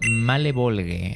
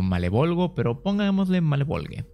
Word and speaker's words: Malebolge: sí tiene nombre y se llama malebolge así mínimo se pronuncia en inglés bu que en español algo como malebolgia en vez de que